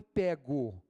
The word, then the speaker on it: pego: o bandido foi pego Aliás foi pego e não foi pego a pronúncia com e fechado e pelo amor de